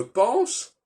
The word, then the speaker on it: pense: On dit je pense, alors qu'on devrait dire je pens, et on ne prononce pas le S final.